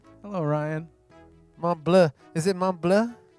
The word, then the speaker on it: Montbleau: Is it Montbleau? It's in French it's Montbleau, but in American English that becomes Montbleau. So my family has always said Montbleau.